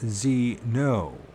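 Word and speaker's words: Zeeno: "You may call me Zeno." Z-E-E-N-O. There's that double, some double letters in the name, right? Although the witness didn't know it, the Greek word for stranger is Zeno. It is pronounced Zeno.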